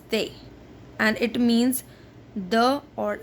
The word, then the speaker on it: des: Here we are not pronouncing S, so it is not des, it is they, and it means the or some, mostly some, not they.